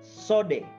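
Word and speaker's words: סוֹד: Itu dari bahasa Ibraninya, tulisannya COWD, code, tapi sebenarnya bacanya bukan code tapi sode, ya. Ya. Pelafalannya itu sode.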